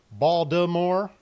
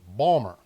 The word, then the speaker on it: Baltimore: You've got multiple ways of pronouncing this.